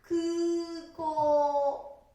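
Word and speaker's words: 空港: 空港ですから、発音は空港。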